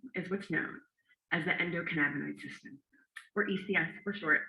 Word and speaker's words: endocannabinoid: Endocannabinoid. Endocannabinoid. Endocan. Louder, Portland. Endocannabinoid. Endocan. Masterful. Yes, thank you. So yes, ladies and gentlemen, this secret system is what's known as the endocannabinoid system, or ECS for short.